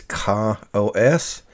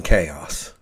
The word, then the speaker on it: KaOS: k k a oos I believe the proper pronunciation is Kos but I can't look at that word without thinking chaos so if I say chaos it's just going to slip out because that's what I always refer to it in my head because that's how I see it on the screen